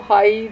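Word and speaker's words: high: Next example है, हाउ डू you know how हाई the mountain is. तो इसमें जो है नो का के और डब्ल्यू और हाई का जी एच जो है वो साइलेंट है या म्यूट कॉन्सोनेंट्स हैं।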